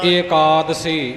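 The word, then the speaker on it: ਏਕਾਦਸੀ: पे हो हर राम एकादशी एकादशी थ ी है ना सतगुरु ने ड़ी न सिहारी द था इथे लाम लाई है लाम का उच्चारण करके ही पाठ करंगे एकादशी एकादशी वखरा वखरा नहीं करना एकादशी निकट पख हो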